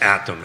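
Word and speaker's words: ATTOM: you were referring to I just wanted to make sure I got the pronunciation right it's atom at and uh this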